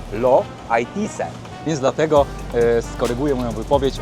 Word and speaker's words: Los Haitises: Ja powiedziałem, że jest to Park Narodowy Los Haitises, ale prawidłowo po hiszpańsku wymawia się to Lo Haitise.